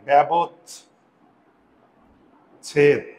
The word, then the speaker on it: ব্যবচ্ছেদ: তাহলে এখন আমি যদি এ দিয়ে লিখি এই যে ব্যা এই যে এর আকার এখানে চলে আসছে। ব্যাব এই যুক্ত বর্ণ ভেঙ্গে দিতে হবে। ব্যাবত ছেদ উচ্চারণ লেখার সময় সবসময় যুক্তবর্ণ